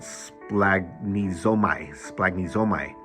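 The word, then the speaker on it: σπλαγχνίζομαι: Well, the Greek word for compassion is, I'm going to try to pronounce it, splagnizomai. And it sounds like the medical term splancology, which is the study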